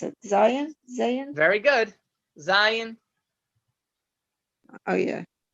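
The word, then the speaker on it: זין: How do you pronounce it? Zion? Zayin?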